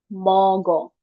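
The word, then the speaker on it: 먹어: Jadi mogo mogo moko.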